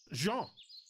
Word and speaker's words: Jean: It's a French name. It's pronounced Jean. And you are Jean. See the difference?